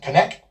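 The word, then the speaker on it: Konnech: software company the company I believe you pronounce it connect it's k-o-n-n-e-c-h and their CEO Eugene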